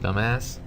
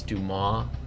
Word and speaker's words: Dumas: think that that's pronounced dumbass it's not it's Duma I believe it's French let me know now